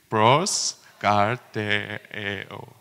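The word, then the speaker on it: προσκαρτερέω: Pros karteo.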